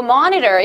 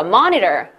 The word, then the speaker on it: monitor: 막 T가 미국 발음이어서 L처럼 먹히고 하니까 그죠? Monitor 아니고 monitor 이렇게 했죠. 얘 한번 해볼게요. Monitor.